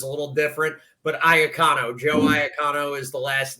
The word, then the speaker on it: Iacono: we kind of Americanized it. Like if you were in Italy, it'd be Iacono, but Americans can't Gotcha. really pronounce that.